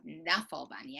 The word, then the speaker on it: Knuffle Bunny: at canelo bunny yes i used to think it was called knuffle bunny i thought it was a silent k but turns out mo willems actually wants it to be knufflebug let's look at canelo bunny